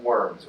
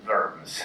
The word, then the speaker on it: Worms: the Imperial Diet of Worms, or in German, Worms.